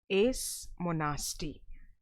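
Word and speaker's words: seismonasty: Therefore the correct answer to this question is option B, okay, Is monasti. S is silent, so you can call it as Is monasti.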